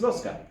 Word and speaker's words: Lusca: Irish for Lusk is Lusca. It's very simple. It's a nice, simple two-syllable word.